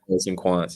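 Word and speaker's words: Poets&Quants: Is that how you pronounce that? Poets and Quants, yeah, exactly.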